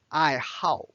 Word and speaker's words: 爱好: And the second word in HSK1 is I how. How. Notice this pronounced as a fourth tone.